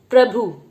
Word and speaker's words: प्रभु: और भ के नीचे छोटे ऊ की मात्रा लगाई है, तो भ के नीचे छोटे ऊ की मात्रा का उच्चारण हम जल्दी से करेंगे, भू बना देंगे, प्रभु। प्रभु नहीं बोला जाता है, प्रभु होता है, प्रभु।